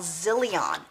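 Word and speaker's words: Zyllion: by a company called zillion and you can find it here on amazon it's um let me spell it for you because it's not the way you think it's it's spelled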